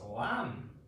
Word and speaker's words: lamb: Okay, next one we have is lamb. l a m lamb l a m lamb A lamb is a baby sheep. And again, for this letter, there's no sound and there's no dot.